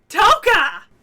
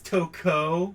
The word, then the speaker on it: Toko: Toka! You didn't even pronounce the name right. I know. It's Toko. Toko.